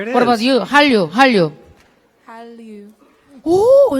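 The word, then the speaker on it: 한류: Han means Korea. Ryu means wave. So Korean wave. Hallyu. Hallyu. Hal. Hal. The tongue is like L bottom.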